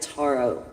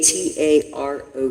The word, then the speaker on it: tarot: The Toro or it's the Taro. I I pronounce it Taro. A T A R O T. Taro.